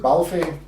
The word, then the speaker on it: Balfe: How do you pronounce her name? We'll just call her Cat. Cat Balfe. Is it Balfe?